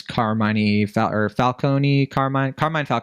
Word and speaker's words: Carmine Falcone: Some of these mob bosses include John Turturro, who plays Carmine Falcone, that's how you say it.